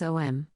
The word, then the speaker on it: Om: How to pronounce Om? There are several ways you can say or hear Om. The most common you would find a short O, followed by a long M, especially popular in the West, something like Om.